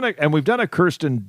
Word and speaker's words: Kirsten: Have we done a And we've done a Kirsten Dun movie or Kristen Dunce. How do you say her name? Uh, I believe it is Kirsten.